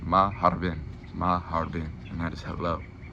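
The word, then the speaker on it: مرحبا: And this is pronounced maharbin.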